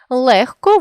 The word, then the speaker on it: легко: можемо це відбувається у словах де звуки уподібнюються один до одного за глухістю таких слів 5 легко вогко кігті нігті дьогтьом нам складно зрозуміти яку ж саме літеру писати у цих словах адже у вимові дзвінкий г уподібнився до глухого х тому для того аби